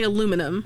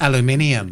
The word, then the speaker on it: aluminum: like because i think like there's a couple of ways to pronounce something because i we say aluminum right like aluminum foil aluminum but like aluminium aluminium the thing is my